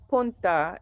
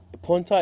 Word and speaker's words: punta: Could you explain what punta is? It's If I'm pronouncing it right, because I know you that's got a it right. Spanish word Punta.